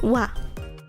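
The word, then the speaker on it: は: but in that context, ha is very mostly pronounced wa.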